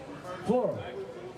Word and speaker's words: Fleur: Fleur. Like the floor.